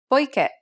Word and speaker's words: poiché: Here's another one. Poiché. As indicated by the accent, the last syllable should be stressed.